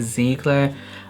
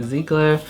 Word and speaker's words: Ziegler: This one is in collaboration with Maddie Ziegler. I thought it was Ziegler, apparently it's Ziegler. I just watched someone and they pronounced her name as Ziegler.